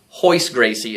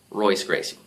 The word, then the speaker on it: Royce Gracie: the the Portuguese language the letter R has an H sound especially if it's the first letter in the word so um although it